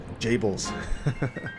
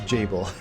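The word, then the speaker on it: Gebel: you've decided to awaken Gables tell me you didn't do this oh it's even pronounced Jabil see I don't know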